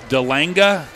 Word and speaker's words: DeLang: Delanga is Australian for DeLang. We're going with DeLang. We're going with the English pronunciation, DeLang.